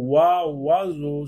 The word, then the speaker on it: oiseau: Donc c'est le mot oiseau déjà. Oiseau, oiseau. Donc vous entendez wa, oiseau. Donc comment il s'écrit?